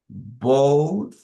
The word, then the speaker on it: both: Pronunciation, in this case, as it finishes with TH, the pronunciation is both. Este sonido, digamos, esta transcripción que tengo acá, se lee como una TH, es decir, con la punta de la lengua.